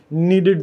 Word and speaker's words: knead: अब ये नीड आप देखिए के से है, ये KNEAD है, लेकिन इसमें के साइलेंट है। नीड करना, नीड एक वर्ब है, KNEAD। इसको आपने NEED से कंफ्यूज नहीं करना, जो होता है ना कि आई नीड समथिंग, मेरी ज़रूरत है। इसकी प्रोनाउंसिएशन बिल्कुल वही है, लेकिन इसमें के साइलेंट है, KNEAD।